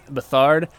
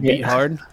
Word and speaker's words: Beathard: who I'm pretty sure his last name is Bethard, but it's spelled Beathard, so that's how I pronounce it, CJ Beathard.